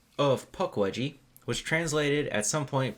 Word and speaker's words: Pukwudgie: yeah and then you might hear me say Punk wedgie but that's just me being wrong just we've been pronouncing around this whole time yeah it's Puck wedgie Puck wedgie that sounds like a character in